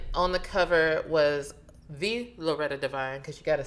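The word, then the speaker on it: Loretta Devine: black famous and on the cover was the loretta divine because you got to say it like that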